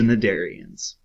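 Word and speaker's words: Cnidarians: symmetry and it's the nadarians and that is how you pronounce them the c there is silent what is radial symmetry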